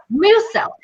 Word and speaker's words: Musel: I always say your name wrong. Musel, right? Musel. Musel.